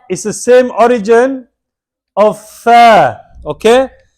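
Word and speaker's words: ف: Allah is the same origin of Fa, okay? Fa is a Liswiya letter and is pronounced from the tip of the tongue, touching the inner edge of the top two front teeth.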